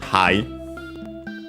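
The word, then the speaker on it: はい: fundamental one, which is hai. I think I mentioned before also another one, which is e. Should be also accent on the first syllable. Hai is accent on the first syllable for sure.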